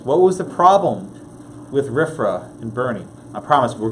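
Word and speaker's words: RFRA: Religious Freedom Restoration Act let me give you the acronym rifra and pronounce riff raff the Religious Freedom Restoration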